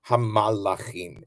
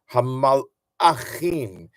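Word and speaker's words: הַמְּלָכִים: I wanted to make sure to say it the way that it's written, hamalachim. And if you really want to be demonstrative of the pronunciation, it should have a in the middle, hamalachim, to make a real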